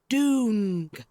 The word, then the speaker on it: dung: It is pronounced doong.